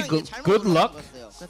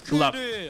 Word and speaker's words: GLuck: And 처음에는 글럭이 맞았는데 It used to be good luck, but 저희가 해설하면 now we changed it in a way and we clarified it, and it is pronounced and called as GLuck.